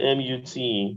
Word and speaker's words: mute: Then somebody wants to know how to pronounce C-U-T-E and M-U-T-E. So that's cute. Cute. Cute. That's C-U-T, cute. M-U-T is mute. Mute. So the thing here is that there is a palatal Y.